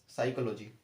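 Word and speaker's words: psychology: doctor को बोलते हैं अगला है साइकोलॉजी साइकोलॉजी आपने सुना होगा पी साइलेंट है यहां पर और ये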